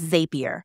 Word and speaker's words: Zapier: a more French zapier it's commonly pronounced as zapier like happier their tagline even plays